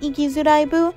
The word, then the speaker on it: Ikizuraibu: What's more interesting to me is that, although the main title is consistently pronounced Ikizuraibu, it has 2 completely different meanings depending on which spelling they use.